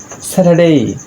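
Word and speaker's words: Saturday: এর পরে কনসোনেন্ট আসছে, যার কারণে আর এর উচ্চারণটি হচ্ছে না। স্যাটারডে, স্যাটারডে, আর এখানে ফ্রাইডে, যার আর এর উচ্চারণটি হচ্ছে।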